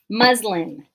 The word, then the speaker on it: muslin: had to restock the muslin and i have a funny caption muslin the muslin fabric ends with an n the letter n is muslin muslin is the fabric muslim are adherents of